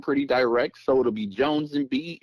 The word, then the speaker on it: Joanz & B: fans so that's again Jones and b j o a n z and b3e not pronounced B3 e just B okay great yes sir